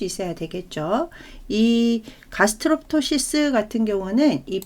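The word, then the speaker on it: gastroptosis: 하실 수 있어야 되겠죠이 가스트로토시스 같은 경우는이 피가 이제 묵음인데 그래서 뭐 가스트로 푸토시스 이렇게 발음을 하면 안 된다라는 얘기죠 그래서 중간에 이제 피가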